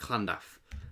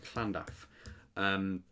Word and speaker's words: Llandaff: So Llandaff, I think that's how you say it, Llandaff, with a bit of sort of ha to the double L's.